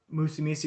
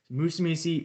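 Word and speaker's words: Musumeci: the uh court decision musumi i guess that's how you pronounce it it's m u s m-u-s-u-m-e-c-i musumesi v uh united states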